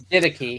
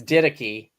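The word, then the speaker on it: Didache: I I I I'm it's didy by the way what's that it's didy D oh yeah I know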